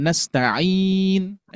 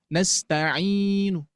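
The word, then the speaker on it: نستعين: Ada tas ee nastainah. Jadi dibacanya nastain nastain bunyinya enggak ada tapi isyarat ya bahwa di ujung ayat itu berharakat domah. Nasta'in ya. Ada yang raum nastainu. Nasta'in ada nunnya Bu, Pak.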